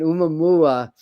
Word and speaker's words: Oumuamua: Like Oumuamua, I always have trouble pronouncing that one. Oumuamua, had much more of an angular, and though